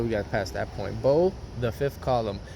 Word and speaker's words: Beau: Now that we got past that point, Bo, the fifth column. His name is spelled Beau. Bo, not like bow and arrow. BOW. No, Beau, the fifth column.